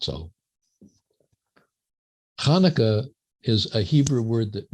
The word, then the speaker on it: Hanukkah: at the merriam-webster dictionary does not begin with ch but begins with h hanukkah and i guess hanukkah is a pronunciation for those who can't quite grasp the sound but i prefer to